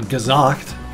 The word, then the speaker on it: gesagt: And then gesagt, the S is with a Z sound.